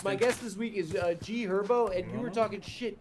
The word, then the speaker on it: G Herbo: It's also G Herbo. The H is silent, bro. Okay. What? The H is silent. It's G Herbo.